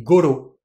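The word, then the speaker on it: ごろ: Ces particules, kurai et koro, on va souvent les prononcer gurai et goro. En fait, ici, on met juste un dakuten pour faciliter la prononciation.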